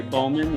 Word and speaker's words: Bauman: then i is actually i think bauman right is that how you say it yep yep bowman i think is how she's like okay bowman yeah she's out of